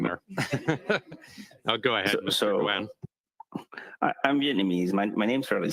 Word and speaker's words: Doan: My last name is Doan, so Vietnamese because of the French influence. We pronounce it Doan, but I'm used to being called Don as well, similar to the I believe a hockey player, but I don't watch